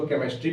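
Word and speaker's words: chemistry: तो यहाँ सीधा मतलब है CH मतलब च, लेकिन यहाँ पे अपवाद है इसलिए इसको केमिस्ट्री पढ़ेंगे।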